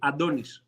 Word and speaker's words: Antonis: Okay, in a Greek way, Adonis.